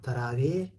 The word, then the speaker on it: تراويح: ونوافلكم هكذا روجي نفلنا تراويه انظروا نحن نكتب تراويح مثل العربي ولكن انظر انا لا انطق اقول تراوي عندنا سكون عندنا ايضا